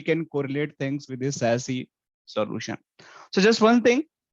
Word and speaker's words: SASE: if you see here sassy basically we can pronounce as s-a-s-s-y that also we call sassy and also we can call as a sassy sassy so as up to you but the correct name is the sassy we can pronounce such as sassy s a double sy but it's always